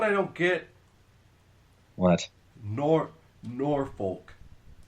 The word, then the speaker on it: Norfolk: I don't get what nor Norfolk. Norfork. Why? Why do you Nebraskans pronounce Norfolk? It's spelled N O R F O L K but you pronounce it Norfork.